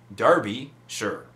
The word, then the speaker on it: Derbyshire: Stuart Painter says, Jay, and he was talking about Derbyshire, as I was saying, but he says, pronounce it Derbyshire.